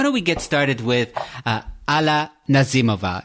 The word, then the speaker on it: Alla Nazimova: And why don't we get started with Alla Nazimova? Is that the right pronunciation, first of all? I don't want to get that wrong. Yes, it is Alla Nazimova. You nailed it.